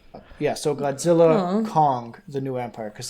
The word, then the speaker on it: Godzilla x Kong: Yeah, so Godzilla Kong: The New Empire cuz the x is silent in like anime and everything.